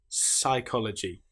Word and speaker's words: psychology: Here we don't pronounce the P at all. We just say pronounce the S sound. Psychology.